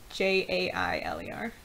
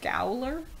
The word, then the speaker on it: gaoler: Also, jailer is spelled Gaoler instead of what we would recognize it as Jailer. I didn't even notice that. Yeah, so that's jailer. You probably read it in was like Gowler.